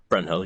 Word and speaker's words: Brynhild: Brynhild? Brunhild? Yep. Yeah. Brunhild, yep.